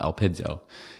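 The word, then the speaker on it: ἐλπίζω: Elpo or Elpiso. I don't exactly know the pronunciation. I think it's right down here. Elpidzo. Elpido is how you say it.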